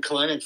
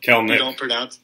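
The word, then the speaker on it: Kelenic: Kalenic. You don't pronounce the second E.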